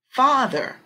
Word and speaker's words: father: But the part that's the strong syllable will be in bold. Fa, fa, father, father. We listen. Father, father. Okay.